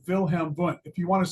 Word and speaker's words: Wilhelm Wundt: And if you want to say it correctly with a German accent, you'll say Wilhelm Wundt.